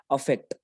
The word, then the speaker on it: affect: First one is pronounced as अफेक्ट एंड the second one इज इफेक्ट. Effect, right?